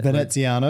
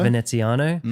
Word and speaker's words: Veneziano: Okay, eighth is the one that I can't pronounce, Ven Veneziano. Veneziano. Veneziano.